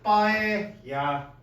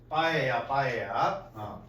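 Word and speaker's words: paella: 따라서 my 빠에야 파엘라라고 읽었지? 빠에야 이거 LL 두 개 붙이면 Y 소리 나는 거예요. 스페인 말에서 스페인어에서 자 나의 스페인어에서의 빠에야는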